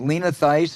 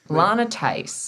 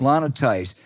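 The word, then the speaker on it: Lana Theis: that false sleazy charge is it Lena theist is that am I pronouncing it correctly Lana Tice Lana Tice uh she took that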